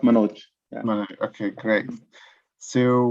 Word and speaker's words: Manoj: Yeah, it's pronounced Manoj.